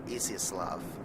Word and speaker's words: Izyaslav: And it looks like we do have some German and Japanese cruisers and Tier 4 Izyaslav, yeah, that's how you say it, Russian destroyer helping us as well.